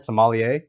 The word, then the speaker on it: sommelier: thank you hopefully i'm saying it right somalia that's correct yeah certified somali sommelier from the